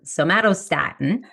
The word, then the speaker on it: somatostatin: I pretend I'm saying the word tomato with an S. So somatostatin, and somatostatin tells your pancreas to produce less insulin when your blood sugar is dropping.